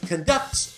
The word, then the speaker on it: conduct: When you stress the second syllable, it means to direct an orchestra. Steve conducts an orchestra. But when you put the stress on the first syllable, conduct, it means to act in a certain way.